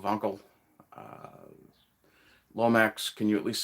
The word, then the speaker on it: Wankel: Kizza tells me that I should be pronouncing Wankel with a V as it's German, so Wankel.